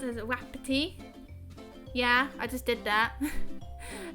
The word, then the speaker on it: Wapiti: But anyway, he says, Samson Wapiti is pronounced as Wapiti.